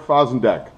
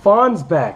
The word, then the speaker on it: Fosenbeck: Merrick Fosenbeck, he is... Oh, wait a minute. It's pronounced Fonsbeck.